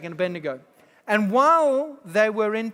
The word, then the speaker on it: Abednego: You've heard the story of Daniel, Shadrach, Meshach, and good pronunciation, son. Yes. Bonus points for you. Shadrach, Meshach, and Abednego.